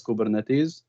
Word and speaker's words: Kubernetes: term um but but it's pretty much a greek word it's pronounced as kubernetes um it's it's the